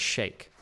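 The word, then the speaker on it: Sheikh: supported i guess but it's not chic it's pronounced shake oh okay a group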